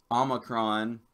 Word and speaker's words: omicron: he was adamant that the omicron what we would call the O and Greek is pronounced with a short o sound ah I took a